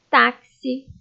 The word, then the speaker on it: táxi: Táxi, tóxico, oxigênio, anexar, axila e fixar. Todas essas palavras foram escritas com X, mas quando você vai pronunciar, você pronuncia com o som de KS, ok?